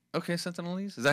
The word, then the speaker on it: Sentinelese: Sentinelese. Okay, Sentinelese, is that how you say it? Yeah. Just add ease to it, like that other word.